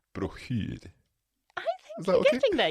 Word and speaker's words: broschyr: the sh, and then you have the worst vowel in the world, I. But there's also the O in there as well, which I never know how to pronounce too.